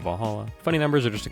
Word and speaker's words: VA-11 Hall-A: a little bit funny it's hard to pronounce good thing it's actually called Valhalla funny numbers are just